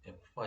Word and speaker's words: FBAR: 자, 뭐 FBAR이라고 읽기도 하지만 보통 이제 F바라고 읽고요.